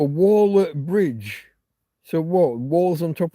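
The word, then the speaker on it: Waller-Bridge: So, it is spelled just like waller. It's not waller anything. It's waller. The person who builds a wall is a waller. So a waller bridge.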